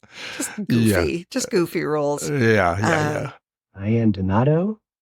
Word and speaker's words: Donato: Diane Donato. 1, 2, 3. Diane Donato. Everybody but that one. Donato.